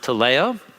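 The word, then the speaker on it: τελέω: down at the bottom it's pronounced to leo it occurs about half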